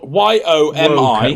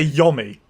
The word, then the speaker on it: yomi: way i would say yummy why would it be o because there's no e after to emphasize the letter of the o it'll be yomi every day of the